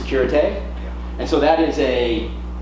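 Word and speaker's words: Sécurité: So Mayday, pom-pom, and the third level is it's pronounced Securite.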